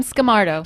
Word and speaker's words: Skamarto: for me sure scamardo skill mart okay so it's pronounced just like it's spelled yeah that was from